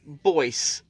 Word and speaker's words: Boyce: of the comments that the right pronunciation is voice with a B. So, Cody Boyce.